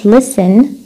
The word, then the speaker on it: listen: نكمل تي، التي بتكون سايلنت such مثل words listen whistle.